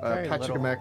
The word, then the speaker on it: Pachacamac: Oh, I said Pachacamack's name wrong. It's Pachacamack. It's Pachacamack. Pachacamack. That's his name.